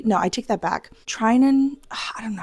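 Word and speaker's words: Tynan: Trinan, I don't know how to pronounce his name. Tinen. Tinen.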